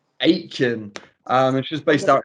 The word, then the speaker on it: Aitken: How do you pronounce it, Jade? Aitken. Aitken.